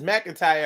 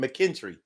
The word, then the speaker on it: McIntyre: it's spelled but uh my last name is McIntyre I've heard people say like it wasn't nothing McKendree so foreign let's talk